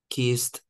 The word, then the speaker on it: kissed: So as you could hear in David's pronunciation, it sounds like a T. We don't say help it. We don't say look it, wash it, watch it, or kiss it, right?